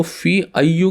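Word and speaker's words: في أيِّ: Simple है, इससे पहले लग गया फी, तो फी अय्यू की जगह इसकी प्रोनाउंसिएशन हो जाएगी अय्यी।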